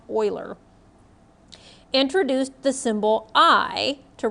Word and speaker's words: Euler: mathematician Leonard Euler I know it looks like Euler but it's pronounced Euler introduced the symbol I to represent the square